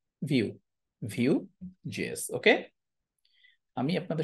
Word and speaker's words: Vue: ভিইউই, এটার উচ্চারণ কিন্তু ভু না, এটার উচ্চারণ কিন্তু ভাইটাই না, এটার উচ্চারণ হচ্ছে ভিউ, ভিউ জিএস।